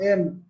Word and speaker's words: AMP: তো accelerated mobile page, আসলে এএমপিটা হচ্ছে এম এএমপি না, উচ্চারণটা হবে এম।